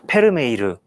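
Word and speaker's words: Vermeer: 실제 저동 4 발음 저쪽 동네 발음으로 페름 에 이르 에 우유 따르는 여인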